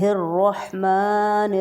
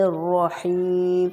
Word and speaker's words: الرحمن: ایک بار پھر دیکھیں، را ہیں دو، رحمان میں اور رحیم میں، دونوں کو بولڈ پڑھا جائے گا، بسم اللہ الرحمن الرحیم۔